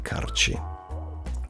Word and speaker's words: Karchi: Karchi, written Karchi, is pronounced with a rolled R. There you go. That's what I was channeling. Karchi.